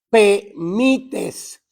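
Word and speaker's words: prophemites: Propemites. La H es silenciosa en español, ¿no?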